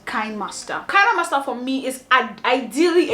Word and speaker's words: KineMaster: actually found out that the pronunciation is actually KineMaster and not KineMaster.